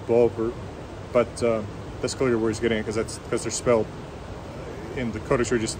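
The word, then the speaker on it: Bofur: Now, in Old Norse, the F's would still be pronounced V, Biver, Bulver, but that's clearly where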